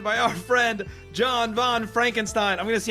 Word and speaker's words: Frankenstein: our friend John Von Frankenstein I'm going to see how many different times I can pronounce that during this episode how many different ways yeah it's it's Franken thank you so much